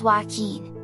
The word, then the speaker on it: Wakin: old variety of goldfish wacon pronounced joaquin are where all the